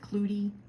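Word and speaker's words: clootie: If you're interested in cloudies, I've heard it pronounced both ways, but I'm more familiar with cloudy, C-L-O-O-T-I-E.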